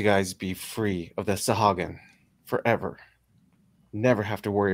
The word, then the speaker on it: Sahuagin: How do you pronounce that lizard name? Sahagun? Sahagun. It's Sahuagin.